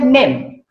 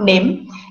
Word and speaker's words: name: move on to the next word you said name right or i said that again is wrong or incorrect pronunciation because it is not nim it is name as if the the spelling